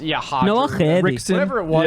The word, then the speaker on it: Roger: They all have R names and they're pronounced with an H, and it's like Yeah. just shut the fuck up. Yeah, it's Hodger.